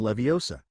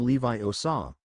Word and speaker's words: Leviosa: as well muttering wingardium levosa with a sloppy flick his feather barely nudg hermion sniffed you're pronouncing it wrong you have to make the gar nice and long wingardium Levi OA not Wingardium Leviosa Ron rolled his eyes